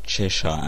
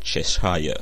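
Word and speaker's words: Cheshire: still have no idea why it's pronounced chesha and not chesa I don't know either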